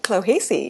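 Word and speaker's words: Clohessy: Robert, at the age of 14, was an outstanding track athlete, and as a teenager, he trained under Pat Clohesi. Is that correct? How I That's right.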